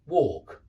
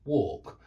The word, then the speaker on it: walk: and it's exactly the it's pronounced in exactly the same way it rhymes with talk yeah talk walk talk walk notice that the technical